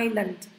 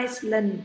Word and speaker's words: island: Lưu ý nó là island, chứ không phải là Iceland.